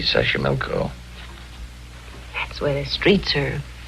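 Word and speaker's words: Xochimilco: mexico city toxico puebla sashimilco okay so you pronounce it better than i do it's easy sasha milko that's where the streets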